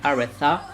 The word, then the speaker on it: Aretha: Un seul petit défaut que j'ai quand même à dire, c'est que Aretha c'est un prénom anglais, et donc ça se prononce Aretha. Et du coup, je trouve ça un peu spécial de dire Aretha.